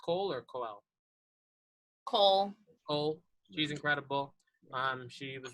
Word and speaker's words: Coel: Michaela Cole, is it pronounced Cole or Coel? Cole.